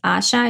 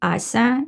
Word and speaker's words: Asia: But anyway, my name is Asia, and even though everybody says Asha, it's actually Asa. It's pronounced differently.